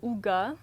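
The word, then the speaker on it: hygge: qui est vraiment populaire ça s'appelle le hougat c'est comme ça qu'on le prononce en français mais ça s'écrit vraiment pas comme ça c'est juste de profiter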